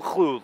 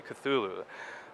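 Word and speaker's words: Cthulhu: I like that though culu Loops because I don't know if you a lot of people don't say his name right they always say cthulu uh from what I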